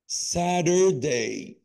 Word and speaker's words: Saturday: بص يا قلبي، حرف التي هنلاقي قبله اي وبعده يو، يعني بعد قبله فاول وبعده فاول. هنا بننطقه شبه الدي او الار شويه، فتقول ايه؟ سادر. Saturday. بعمل ازاي؟ ساترداي Saturday. ساترداي Saturday.